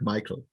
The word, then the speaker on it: Mikael: name correctly um yeah my name is pronounced like michael uh michael okay sorry they're just like the english version of michelle and michael um okay steven beat